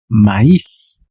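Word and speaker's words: maïs: Sin embargo, también existe la palabra con diéresis sobre la i. ¿Y cómo se va a pronunciar? Maíz.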